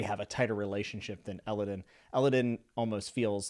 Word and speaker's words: Elodin: Or Elodin? We're going to say Elodin.